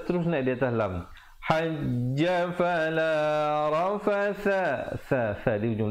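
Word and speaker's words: فِي الْحَجِّ: Cara bacaannya hajj. Tekan sekejap, kemudian tahan, baru lepaskan. Jangan terus lepas. Jangan fil hajj. Fil hajj. Itu ada pantulan, tetapi kita baca macam qalqalah kubra.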